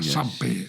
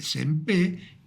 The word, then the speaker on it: Sempé: Creo que se pronuncia Sempé, pero bueno.